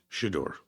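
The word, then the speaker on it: Shedeur: His name is it rhymes with Hodor. Buttfuck? Shador.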